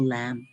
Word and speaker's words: lamb: lamb wow safal offal lamb silent B kasi yun so lamb Inay lamb tapos lamb